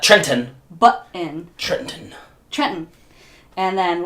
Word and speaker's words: Trenton: We drop T's and D's in the middle of words all the time. Like this one. Trenton. Trenton.